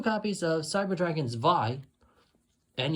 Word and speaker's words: Zwei: 2 copies of Cyber Dragon Zwei, and yes, I said it with pronounced the W as a V since it's basically German.